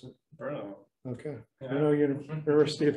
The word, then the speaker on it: Brno: I received his MS degree in mechanical engineering from Brno, how do you pronounce it? Brno.